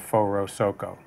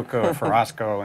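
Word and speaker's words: Forosoco: we're the only band in the category of four oh-seok oh right that's how you say it for our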